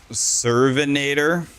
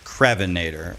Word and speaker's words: Crevinator: I thought your name was Servinator, and I thought it was spelled like the cervix Terminator. I was like, oh my god, what a name. But it's Crevinator, my bad.